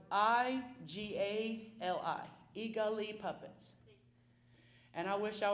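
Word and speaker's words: Igali: In reference to your puppet show, I heard how you spelled it, but I'm going to need you to spell it again. Oh, it's I-G-A-L-I, Eagali Puppets.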